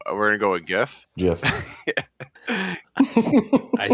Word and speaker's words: Jif: I'm going with Jif. I'm not sure if they were even out by then, but that's what came to my mind. Say it right. It's Jif.